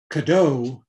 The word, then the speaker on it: Cadot: how it's pronounced m-a-t-h-u-r-i-n cadeau he would have been c-a-d-o-t with a french pronunciation that the kadai family